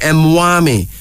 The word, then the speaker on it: Mwami: one mtia Emi Mami m w m i mwami it is a little used a title used